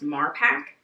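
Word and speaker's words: Marpac: because it's made by I want to say it's pronounced mark pack we have the more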